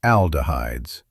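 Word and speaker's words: aldehydes: That processing can create oxidized compounds and something called aldahhides, pronounced aldahhides.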